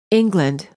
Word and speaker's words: England: exactly the same as the first word the vowel is pronounced differently because it is part of the reduced syllable man salesman pose purpose